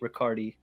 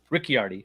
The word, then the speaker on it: Riccardi: morning I pray to Saint riccardi rickiardi sorry am I saying that right Ricky already you said it right the first time then corrected yourself into um saying it wrong but that's okay you